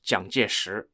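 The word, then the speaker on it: 蔣介石: a side note is also known in English as Chiang Kai-shek but I'll refer to him as zhangjish the Mandarin Chinese pronunciation okay so we know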